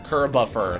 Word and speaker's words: Kirbopher: Kirbopher. Like Christopher, except Kirby.